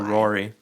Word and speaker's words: Rory: name is spelled Raury. Oh, Rory. Is it Rory or Rowry? It's Rory.